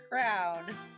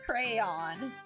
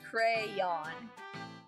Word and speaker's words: crayon: I say crown. I literally pronounce it this way. I say crown, and it's supposed to be pronounced crayon. Of course, crayon.